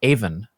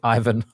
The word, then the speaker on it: Aiven: Olena is a developer advocate for Aiven. You may pronounce it Ivan, but you'd be wrong. It's actually Aiven.